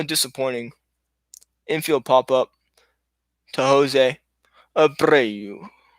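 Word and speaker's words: José Abreu: See, you have to enunciate. You don't, but I thought it'd be fun to do so. I love how it rolls off the tongue. You gotta roll your R's.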